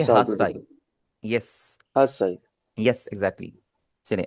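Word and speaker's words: 八歳: आठ साल को हम बोलेंगे हासाई।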